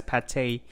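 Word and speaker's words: pâté: are making chicken liver paint just kidding it's pronounced as pate or paste a paste made out of forced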